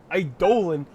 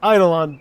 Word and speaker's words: Eidolon: power it up first I Dolan I'm pretty sure it's pronounced eidolon but sure it died